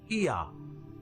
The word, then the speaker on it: Ea: And the third god was called Ea, which is pronounced Ea, and it became Yah, and Yah became Yahweh.